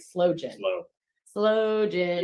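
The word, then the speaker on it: sloe: Slow Gin. Which is spelled S-L-O-E. True. Not slow as in movement.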